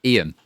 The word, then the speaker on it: Iain: Ian. It's Ian. It's spelt Ian. It's spelt the Scottish way, Iain, though I'm not from Scotland, as you can probably tell.